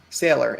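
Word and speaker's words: Saylor: somebody like that too his name rhymes with mailer that is true it does sailor s a y l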